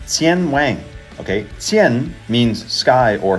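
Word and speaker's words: 天网: So, in Chinese, it's pronounced "Tiānwǎng", okay?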